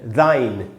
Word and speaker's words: thine: यह है THY, दाई, या THINE, दाइन।